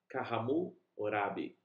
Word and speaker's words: Hammurabi: Babel, região do Iraque, chamava-se Kahmu-Orabi, pronúncia em babilônico.